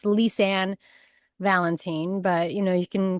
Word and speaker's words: Lisann Valentin: happy to be here today and it's just pronounced lisan Valentine but you know you can pronounce it leisan Val valenton valenton that's what it was yeah sounds cool